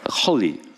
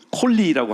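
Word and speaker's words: חֳלִי: 홀리 콜리라고 할 수도 있고 그니까 히읗하고 키역자 발음이 들어와요. 홀리 다 같이 시작 홀리 목 안쪽에서부터 긁어내는 소리 홀리 예 그니까 이름도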